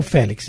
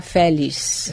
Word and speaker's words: Félix: Félix, o irmão Félix, isso mesmo. Que na realidade deveria se pronunciar Félix. Vem ela de novo. X no final.